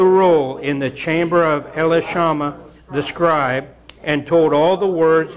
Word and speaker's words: Elishama: took it out of elishama or elash Elish the scribes chamber I've heard pronounced elishama and jeudi read it